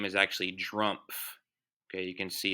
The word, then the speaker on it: Drumpf: very interesting that trump's family name is actually drumpf okay you can see it's spelled d-r-u-m-p-f so they changed their name to